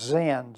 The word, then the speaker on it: Sin: Bible is sin like SI n but it's pronounced Zen z i n and because it had nothing